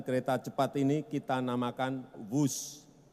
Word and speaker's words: Whoosh: Dan kereta cepat ini kita namakan WUS. W-H-O-O-S-H. Dibaca WUS. Ini diinspirasi dari suara yang melesat dari kereta berkecepatan tinggi ini. Dan singkatan dari waktu hemat, operasi optimal, sistem hebat. Sekali lagi, W-H-O-O-S-H, tapi membacanya WUS.